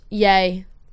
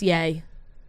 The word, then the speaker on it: Ye: kanye west is officially changing his name to just yay ye pronounce yay like we call him